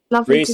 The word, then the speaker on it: Rhys: His Instagram is Reese and that's spelled RH YS Rhys guitar.